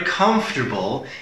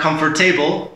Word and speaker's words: comfortable: So we are very comfortable in the classroom. So one more time, not comfortable, but comfortable. I see it as three syllables as a native.